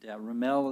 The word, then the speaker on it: Remel: Remel is how it's pronounced?